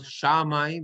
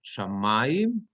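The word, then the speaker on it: שמים: It's not shamayim, it's shamayim, because it's under the mem.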